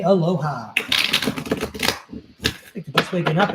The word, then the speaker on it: aloha: We say aloha. Picked the best waking up in Hawaii. Here we go. Aloha. Three syllables.